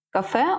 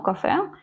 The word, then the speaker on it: кафе: ходила у себе помилочку ось тут у нас з наголосом іде кафе У нас з наголосом те у кафе і тут кафе правильно